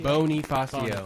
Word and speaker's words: Bonifacio: Bonifacio. Bonifacio, that's right. I know there was like some sort of pronunciation change because that's how his family, wanted.